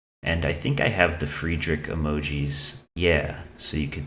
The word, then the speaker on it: Friedrich: I say Friedrich and I know that's not the correct German pronunciation, but you know, it's better than fried rich. No disrespect to the people who say fried rich, but like like Friedrich is wrong, but fried rich is